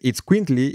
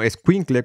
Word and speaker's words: itzcuintli: Pero la segunda, que es itzcuintli y no escuincle como usualmente lo pronunciamos, es la palabra náhuatl para perro.